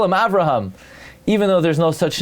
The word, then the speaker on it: Avraham: There is no name Avraham. It's Avraham.